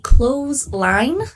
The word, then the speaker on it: clothesline: We can also see a clothesline. Notice the pronunciation for this word is very similar to just close the door.